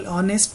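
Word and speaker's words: honest: For example, ऑनेस्ट में H silent है और उसका साउंड स्टार्ट होता है वोवेल से, राइट।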